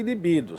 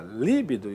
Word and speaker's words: libido: Essas palavras são paroxítonas, tá vendo? A sílaba tônica ali em azulzinho, ó. Porém, são normalmente transformadas em proparoxítonas, o que significa o que configura um erro de prosódia, um erro de pronúncia. Como assim? Aqui, ó. Então, é muito comum você ouvir a pessoa falar, né? Filântropo ou record ou rúbrica líbido e púdico. Errado.